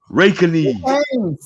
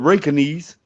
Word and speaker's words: Reykjanes: Since the J silent, so it's Rakanese. It's Racanes. Who told you that?